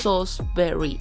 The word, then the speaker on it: Salisbury: Salisbury has spelt "Salisbury" but it is pronounced SAWZ b(e) ree and it is a